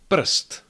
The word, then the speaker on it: prst: Prst, prst, that's a finger. And srst, srst, that's fur. Again, when we are pronouncing those words, it doesn't really matter if that is a vowel or not.